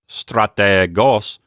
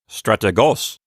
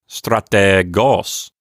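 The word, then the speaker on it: στρατηγός: you say the word when you say strategos don't make the ETA really short don't say strategos don't do that linger a minute on the ETA you know take your time with it strategos and that's going to help you get accustomed to the length of that letter it'll help you get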